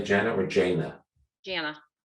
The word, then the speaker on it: Jana: Do you say Jana or Jana? Jana. Easy way to remember, it rhymes with my middle name, Anna Jana.